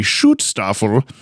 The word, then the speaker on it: Schutzstaffel: the logo of the Schutzstaffel, a major paramilitary organization under Adolf Hitler. That's how you say it. You got to put the little accent in it.